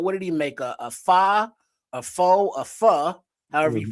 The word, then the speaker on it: pho: A pho, a pho, however you pronounce that, a ramen.